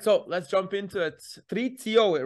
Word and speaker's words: Patricio: Patricio, right?